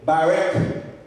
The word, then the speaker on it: Barak: Troisième façon pour capable louer mon Dieu, c'est Barek.